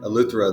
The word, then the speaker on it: Eleuthero: Eleuthero, is that how you say it? Yeah, Eleuthero.